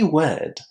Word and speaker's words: word: And in fact, there are two more words that beginners and pre-intermediate students always mispronounce, and they are word and weld. So, work, word, weld. All of them with a long air.